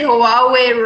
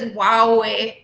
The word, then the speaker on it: Huawei: I think I said Huawei wrong. I think it's Huawei.